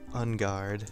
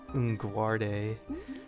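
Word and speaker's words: Enguarde: some stupid illiterate kid always pronouncing his name Unguarde. I didn't get like Unguard, like a sword.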